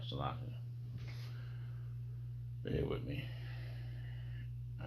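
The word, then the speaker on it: Seleucia: Salakia.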